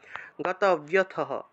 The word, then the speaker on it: গতব্যথঃ: উদাসীন গতব্যথঃ, বয়ের সাথে জফলা থাকায় বিয় উচ্চারণ, গতব্যথঃ, বিসর্গ থাকলে হ উচ্চারণ।